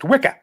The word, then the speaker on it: Wicker: Well, it occurs to me that wicker in in the Bronx is pronounced Wikah, which is uh you know, the witch's coven, right?